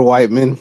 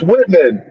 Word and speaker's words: Whiteman: Officer Whiteman. It's Whitman. Short thing, Officer Whiteman. Officer Whitman. Okay. No, not Whitman. Whiteman. It's got to be direct.